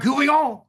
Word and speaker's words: Couvillon: And if you know Couvillon from Louisiana, he pronounced it more like David Couvillon, something like that, I think.